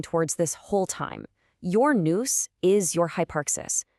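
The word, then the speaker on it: nous: And the answer is noose. It's pronounced like noose and it's the Greek word for the absolute highest part of the human soul.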